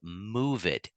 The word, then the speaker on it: Moovit: But I wanted to get to our last app called Move It, and that's spelled Moovit.